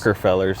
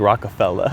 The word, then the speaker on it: Rockefeller: You gotta say it like Jay-Z's company, like Rockefeller.